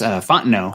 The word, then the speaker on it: Fontenot: Fontenot. Thank you, Richie Rich, keeping us on the pronunciation.